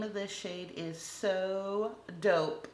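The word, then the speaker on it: So Daupe: Next up, this one is also from Sinful Colors and the name of this shade is So Dope, spelled like taupe, D-A-U-P-E.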